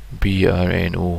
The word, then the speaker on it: Brno: Yeah, B-R-N-O. I think it's Brno, or I know Bruno's like got a U in it, so I'm not really sure how to pronounce that one properly.